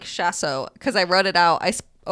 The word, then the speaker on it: chausson: Like Paul says it like chasso because I wrote it out.